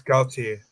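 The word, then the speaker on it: Galtier: It's Gaultier.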